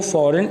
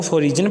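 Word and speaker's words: foreign: alert इन वे को फॉरेन invasion अक्सर बच्चे इसको रॉन्ग प्रोनाउंस करते हैं फॉरेन को फोरिजन पढ़ते हैं और इनवेजन को इवेशन पढ़ते हैं ये दोनों वर्ड्स गलत प्रोनाउंस किए हैं फॉरेन और इनवेजन हुबल वतन का जज्बा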